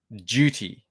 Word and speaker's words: duty: I say tubes with a ch sound, and I say, I guess what you would call it duty, as in duty with a J. So heavy duty tubes. A little bit different how Americans say it.